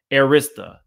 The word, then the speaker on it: Arista: Let me go back to this super chat so I can try to pronounce it right. Arista.